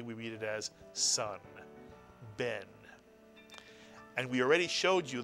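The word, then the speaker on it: בן: Only one vowel, one syllable. If you said Ben, you are correct.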